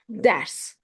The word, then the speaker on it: ders: E sometimes sounds as A, sometimes as E. For example, ders, ders, lesson, class. Geç, E. See, ders, A.